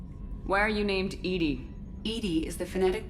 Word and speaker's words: EDI: is a jar why are you named Edie Edy is the fenetic pronunciation of e d that is an acronym